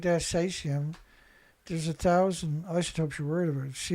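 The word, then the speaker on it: caesium: Only the British pronounce cesium as cesium with an A.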